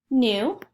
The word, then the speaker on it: knew: new let's spell it one more time k and e w now let's read the word nu nu nu now that we